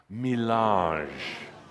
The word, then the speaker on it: mélange: ADAMUS: You really have to hear the nuances in this, the beauty of the French language.